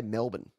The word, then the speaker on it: Melbourne: Just forget everything after the B and go straight to the end. Melbourne. Straight to the end. B-N. M-E-L-B-N. Melbourne.